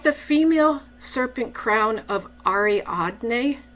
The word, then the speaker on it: Ariadne: I think it's Ariadne.